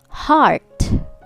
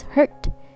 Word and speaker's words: heart: students pronouncing this as hurt so it sounds like hurt h-u-r-t itai but if you mean heart then open your mouth chin down ah ah heart repeat